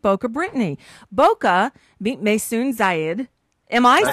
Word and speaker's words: Zayid: It's not Maisoon, but he got Zayed right.